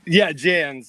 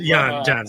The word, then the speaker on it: Janz: It is Jonathan Janz. I hope I pronounced that correctly. Welcome, Jonathan. Janz. It's cool. Janz.